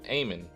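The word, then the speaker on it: Amun: Egyptian god uh uh Aon or I don't know it looks like almond to me but uh uh Aman oh there you go Aman that's how you say it and it's uh this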